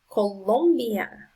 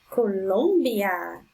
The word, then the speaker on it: Colombia: Number 8, Colombia. Colombia. The strongest sound is on the second syllable.